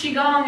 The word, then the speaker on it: Qigong: Yeah, And of course, Qigong is spelled multiple ways, the QI or the CHI. Yeah. And Gong, always G-O-N-G? G-O-N-G.